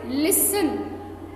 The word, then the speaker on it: listen: इसमें हमने क्या ध्यान रखना था कि टी जो होता है उसकी साउंड नहीं आती, है ना?